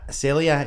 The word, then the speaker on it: Celya: Celya, AB.